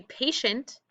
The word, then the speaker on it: patient: Pay is an open syllable at the beginning, and then we have shent. And within it, we have this digraph that we can underline, and then we can circle, or I've been highlighting it because we have that suffix ending. So it's one syllable made up of those two parts.